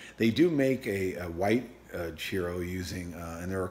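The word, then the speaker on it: Cirò: And there's a winemaking region called CIRO, C-I-R-O, but not pronounced Cairo or CIRO, or it's like cheer. Cheerio, Cheerio, or Cheerios, CIRO.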